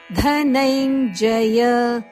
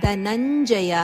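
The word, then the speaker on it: ಧನಞ್ಜಯ: ಉಚ್ಚಾರಣ ನ ಮಾಮೆಚ್ಚಾಪ್ತುನ್ ಧನೈಂಜಯ ಇಲ್ಲಿ ಧನಂಜಯ ಅಲ್ಲ ಧನೈಂಜಯ ಜವರ್ಗದ ಅನುನಾಸಿಕ ಚಜನ್ಯ ಚ ವರ್ಗದ ಅನುನಾಸಿಕ ಆನದ ಉಚ್ಚಾರಣೆ ಬರಬೇಕು ಧನೈಂಜಯ ಅಥಚಿತ್ತಂ ಸಮಾಧಾತು ನಶ್ನೋಷಿಮ ಮಯಸ್ಥಿರಂ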